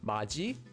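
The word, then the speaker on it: 맏이: this word would be pronounced as maji.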